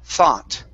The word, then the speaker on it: thought: instead of thought okay the o u g h is an ah sound thought okay so first up the g and the h do not make a sound and the you does